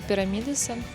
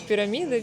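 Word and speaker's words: Pirámides: Мы добрались до Пуэрта Пирамидеса. Пирамидеса. Господи, когда я научусь правильно произносить. Всё, один раз запомнила пирамидес. Хочется сказать пирамиды, пирамиды.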